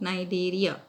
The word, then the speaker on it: Cnidaria: Kind of long names: Platyhelminthes, Echinodermata, C is silent, Cnidaria, Arthropoda, Mollusca.